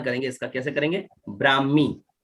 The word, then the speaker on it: ब्राह्मी: हैं बहुत चलो उच्चारण करेंगे इसका कैसे करेंगे ब्राह्मी का उच्चारण नहीं आएगा उनका आएगा उच्चारण कैसे ब्राह्मण